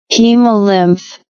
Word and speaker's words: hemolymph: Hemolymph or hemolymph.